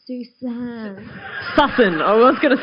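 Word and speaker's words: Sussan: It's pronounced Susan Sussen.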